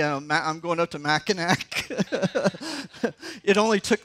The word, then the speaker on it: Mackinac: I'm going up to Mackinac. It only took like 20 times for me to find it sink in. You know, okay, that C is somehow pronounced like a W.